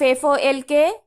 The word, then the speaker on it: folk: The pronunciation of F-O-L-K, L will remain silent, so it is folk, means lok.